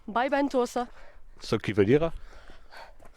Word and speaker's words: Vallventosa: de tourisme de corbère il faut bien le prononcer parce que les gens qui sont pas dues si ils vont te dire saint jude yade vendant tout ça non by van tho ça ce qui veut